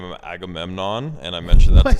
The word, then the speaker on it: Agamemnon: It's Agamemnon, 4 syllables.